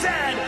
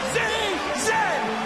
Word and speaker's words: zed: And it is pronounced Zed, not Z-Z.